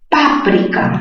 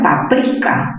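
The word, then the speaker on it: páprika: Páprica, mayor fuerza en pa, esdrújula, pero también se puede pronunciar paprika, mayor fuerza en pri, grave terminada en vocal, no se tilda.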